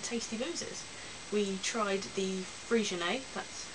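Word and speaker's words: Freixenet: boozes we tried the frian that's how you pronounce it I know it's got an X in it but it's Spanish which was very nice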